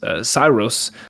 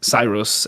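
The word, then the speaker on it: Saeros: His name is Cyrus, I think is how you say it. S A E R O S. Cyrus.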